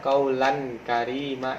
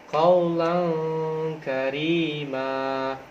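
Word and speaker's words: قولا كريما: huruf tanwin Lan aja kalau teman-teman membacanya kaulan Karima itu salah Jadi bacanya harus didengungkan Kowloon karimah Nah contoh bacaan yang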